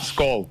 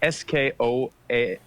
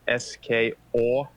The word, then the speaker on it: skål: Skål. Skål, that's Skål. right. Yes. Skål. Yeah, but it's not SKOA. It's not SKOAL. It's SKOL. Umlaut.